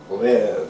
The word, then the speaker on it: Rêve: This is called Parish Rêve. That's how they say it in French.